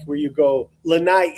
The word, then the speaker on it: Lanai: Lanai, it's two I's. You pronounce the second I.